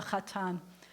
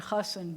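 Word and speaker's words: חתן: And the groom is the chatan. Chatan. In Yiddish, you might say kala and chasen, but the kala is the bride.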